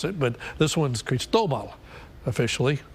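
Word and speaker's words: Cristóbal: it but this one's creased Obama officially the accent on the second syllable if you were wondering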